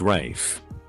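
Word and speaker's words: Ralph: runaway Rafe Mom jumped all over it it's pronounced Rafe well it's spelled Rafe well it's pronounced Rafe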